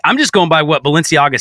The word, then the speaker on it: Balenciaga: that I really the the Valencia thing not Valencia I said it wrong again Balenciaga the Balenciaga thing really